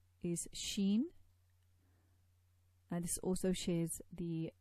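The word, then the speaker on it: شين: So you pronounce Sheen by raising the tongue towards the hard palate, and that produces the Sheen.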